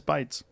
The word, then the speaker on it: Beitz: Bites. Like biting. Bites.